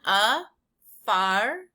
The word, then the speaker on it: Afarensis: Again, let's pronounce this one. Afarensis.